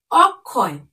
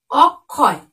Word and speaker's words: অক্ষয়: বা তৃতীয় স্থানে বসবে তখন তার উচ্চারণ রূপটি হবে ক এবং খ এর মত ক এবং খ দুটিরই উচ্চারিত রূপটি হবে দেখো যেমন অক্ষয় অক্ষয় দেখো যখন কিন্তু আমরা